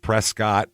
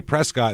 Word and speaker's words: Prescott: I lived there and I would say Prescott and if Prescot I'd go no no no I'm talking about the one that's spelled p r s c o TT that one right yeah